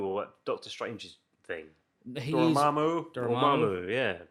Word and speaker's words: Dormammu: He's Dormammu. Dormammu, yeah. Dormammu. Yeah, you have to say it like Benedict.